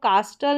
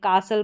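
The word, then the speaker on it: castle: पूरे को और जो टी है इसमें वो साइलेंट है। जैसे इसको कास्टल नहीं पढ़ेंगे। कासल पढ़ेंगे।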